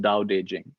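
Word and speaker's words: Tao Te Ching: i n g that's three words but it's pronounced dow daejing and my favorite translation is by stephen michelle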